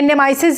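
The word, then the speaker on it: nemeses: उनकी भी खोज की यह नेमीसेस ये है निम्नीस नहीं है क्योंकि इसकी वर्ल्ड की स्पेलिंग को करेक्ट करके देखा जाए तो वो नहीं बंता है मतलब जो उसके दुश्मन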